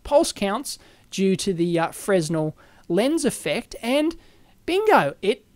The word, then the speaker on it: Fresnel: go it explains that a Fresno lens they pronounce it frenel I don't know I always call it Fresno is a Plano convex